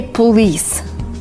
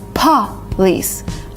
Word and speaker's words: police: A lot of people say police, which is not right. It's police. Police kind of blowing a candle. We do not say police. You're not blowing out a candle.